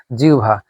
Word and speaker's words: জিহ্বা: অবশ্যই তার আগে দেখব আগে কি আছে, হ্রস্বইকার। আগে হ্রস্বই থাকলে এটা ও ভ না হয়ে উ ভ হবে। এই যে জিউ, জিউ ভা, এখানে উ এবং ভ হয়ে গেল, জিহ্বা।